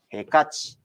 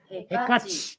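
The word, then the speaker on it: ヘカチ: ヘカチ。ヘカチ。ヘカチ。カにアクセントが来てます。カ。ヘカ Stress チ。 is on the カ。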